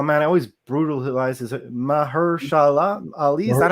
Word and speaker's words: Mahershala Ali: Oh man, I always brutalize his Mahershala Ali. Is that how you say it? Yeah. Mahershala Ali.